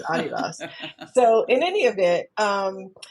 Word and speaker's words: Adidas: was with Adidas because that's the proper pron pronunciation. It's someone's name Adidasler. It's okay because all Americans are like Adidas like really it's Adidas.